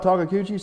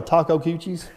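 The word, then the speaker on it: Takeuchi: is correct what about takakuchi steve i still got kubota engines wait a minute you just said it properly on video that's not how you say it often you talk about the taco cuccis so all right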